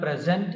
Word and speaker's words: present: adjective and also noun when the word present is verb then the accent is on the